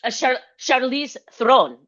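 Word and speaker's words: Charlize Theron: Shice the sherice The Oh, I like Charize Thron.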